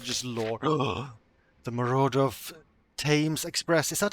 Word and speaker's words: Thames: The Marauder of Thames Express. Is that how I pronounce Thames?